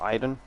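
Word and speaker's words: Aiden: um beyond two souls iden kind of like aidan but like pronounced idon that was so interesting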